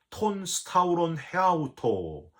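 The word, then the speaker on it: τὸν σταυρὸν ἑαυτοῦ: 여러분, 헬라어로 이 자기 십자가는 톤 스타우론 헤아우토 이렇게 발음을 하는데요, 바로 너 자신의 십자가라는 뜻이에요.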